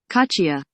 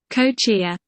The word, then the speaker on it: kochia: Here's what Google told me how to pronounce this word. Cachia. That's the American way to pronounce it. Cachia. And the British way.